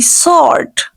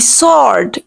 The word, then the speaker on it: sword: Correct pronunciation will be sword. The word will be sword. W will be completely silent here.